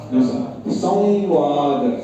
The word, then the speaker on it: संवाद: तो वो वहा पर इसम व के ऊपर व को नासिका के साथ बोलना पड़ेगा संवाद संवाद संवाद संवाद और ये